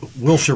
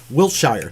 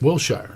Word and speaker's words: Wilshire: like we know out here, it's Wilshire Boulevard, but being from back east, Wiltshire. Wilshire, yeah, exactly.